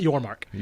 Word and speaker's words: Yormark: Brett Yormark. Yes, yep. Yormark. Okay, I focused so much on pronouncing his name correctly that I literally forgot his name before I was about to say it.